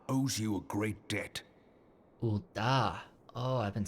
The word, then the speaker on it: Ul'dah: Ul'dah. Oh, I've been saying it wrong like for 4 episodes now. Ul'dah.